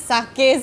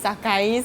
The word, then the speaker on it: Sakae: Okay, I used to pronounce it Sake Sushi. I Same. never knew that it's Sakae Sushi.